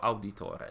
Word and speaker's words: Auditore: so let's move on it is mario auditore that's the pronoun the italian pronunciation oh that's our morty